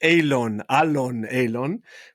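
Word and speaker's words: Oileán: brand out there because it sounds like Alon, but it actually means island, right, in Gaelic.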